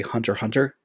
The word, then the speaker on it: Hunter x Hunter: like uh like how in anime they'll have X in the middle of the title and you technically don't pronounce it like Hunter uh Hunter